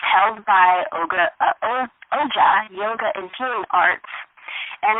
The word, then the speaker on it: OJAH: She is the owner of OJAH. Did I pronounce that correctly? Yes, that's it, OJAH.